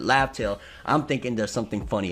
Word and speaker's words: Laugh Tale: final island laugh tale which originally we thought it was wrathful but it was you know romanized is the proper way of pronouncing it laugh tale I'm thinking there's something